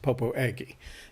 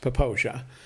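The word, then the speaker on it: Popo Agie: we found out is popo aggie is not pronounced popo eggy it's pronounced poposia and if you say popo aggie uh people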